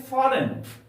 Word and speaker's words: foreign: ठीक उसी तरह से बोलते हैं फॉरेन, FOREIGN। फॉरेन, एन के पहले यहां पर जी आया है, इसलिए जी को साइलेंट रखा गया है। इसका उच्चारण नहीं किया जाता है।